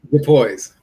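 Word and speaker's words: Starletta DuPois: How's it pronounced? DuPois.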